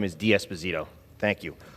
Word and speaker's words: D'Esposito: well thank you Mr Nadler with the correct pronunciation of my last name is diasposito thank you